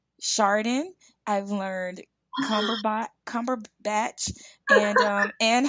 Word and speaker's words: Cumberbatch: Is it Cumberbatch?